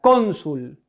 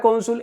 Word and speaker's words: cónsul: Ahora fíjense en esta palabra, cónsul. ¿Cuál es la sílaba tónica? Com. Por tanto, es una palabra llana o grave.